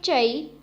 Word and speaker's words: zha: So the first is ZHA, has a pronunciation of cha, cha. Repeat after me, cha.